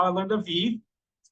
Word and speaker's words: Vi: how I learned a v it's pronounce VI that's Latin for life and why I joined